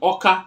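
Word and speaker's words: Awka: of an umbra state orca is o k a but it's spelled a w k a so whatever they found o they replaced it with aw you find it in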